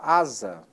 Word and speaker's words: asa: exemplo também a palavra asa a escrita com essa é a pronúncia aqui né a pronúncia é com z porquê porque está entre duas duas vogais mas a regra especificamente